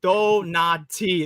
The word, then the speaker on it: Donati: donti there we go I was pronouncing it as the dant here we go Sergio's helping me Donati there we go Tony Donati the dick